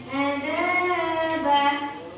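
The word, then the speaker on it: عَذَابًا: Ada alif bertemu dengan huruf za. Jadi sebelumnya ada huruf za fathah ya. Jadi bacanya azaban.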